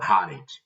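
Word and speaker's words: Arendt: Vou perguntar sobre a Hana Arent. Arrent. Arent ou Arent. Cada um pronuncia de um jeito, mas a pronúncia em alemão, que é a pronúncia nativa do nome dela é Hana Harent.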